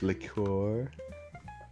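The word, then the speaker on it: liqueur: Uh, it's a French leour. Yeah, it's pronounced leor.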